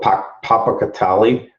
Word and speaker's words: Popocatépetl: Well, this next one I'm going to share with you is I can never pronounce this volcano, Popocatépetl.